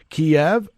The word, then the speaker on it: Kiev: Kiev, that's the proper way to pronounce it.